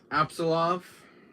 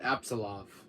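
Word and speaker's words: Apsulov: guys can't see the name back that's uh absolov um makes the game's printing um but anyways it's called absolutely and the gods it's spelled a-p-s-u-l-o-v end of Gods it's called absolov um you can find us on Amazon yeah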